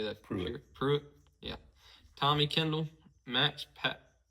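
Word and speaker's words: Pruett: Pruitt.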